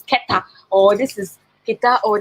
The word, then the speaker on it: Keta: I remember saying in my video the last time, say this is Kita. And somebody like, no, this is Keta, or this is Kita,